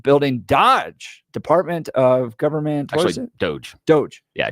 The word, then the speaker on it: DOGE: Dodge Department of government Doge Doge yeah doge is how you pronounce it because it's a meme yeah it is a